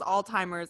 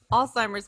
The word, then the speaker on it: Alzheimer's: or alzheimer's anyway also i don't think there's a t in it i i don't know why for my longest time i thought it was all-timers and for some reason